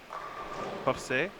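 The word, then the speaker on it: José: So Maria, and then Jose, I have an accent on the E. So like you put pressure on the E? How do you say? Yeah, I don't Yeah, know. that makes I sense. guess. Jose.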